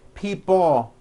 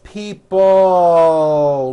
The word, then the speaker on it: people: Notice in this last word, people, it's not pronounced people with your tongue not moving. It's people with your tongue slowly moving up and your jaw remaining down. Stretch out that L sound.